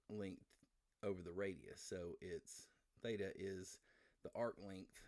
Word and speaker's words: theta: It's pronounced theta. That's a Greek symbol.